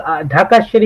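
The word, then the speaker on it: Dhakeshwari: to butcher the name, so I'll let him pronounce it. That Dakeshwari Mandir is. Can you help? It's called Dhaka Shri Mandir.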